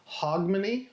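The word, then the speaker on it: Hogmanay: It was in reference to Scotland and the celebration of Hogmany.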